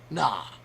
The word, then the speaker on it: gnaw: she told me was the silent letter and how it was spelled was g n a w no G no that just